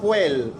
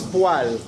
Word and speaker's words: poêle: Et les ustensiles, par exemple, très important, une poêle, et ceci ne se prononce pas poêle, ça se prononce poêle.